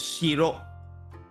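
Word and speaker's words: 城: It's called like the there is two ways to actually pronounce it. One is shiro, or the other one called jo. They also call it jo.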